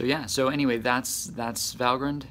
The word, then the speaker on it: Valgrind: if you're bothered by the fact that I'm pronouncing it valgrind that is actually the right way to pronounce